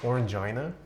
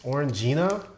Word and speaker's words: Orangina: Fanta in the EU is more like Orangina.